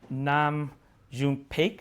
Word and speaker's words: Nam June Paik: He immigrated to Germany as a teenager, studied under Nam June Paik, excuse me if I'm pronouncing No, that it's incorrectly.